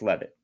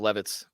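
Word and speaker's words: Leavitt: I believe it's Levitt. Levitt, which is funny. Sounds like the furniture store, Sam Levitt's.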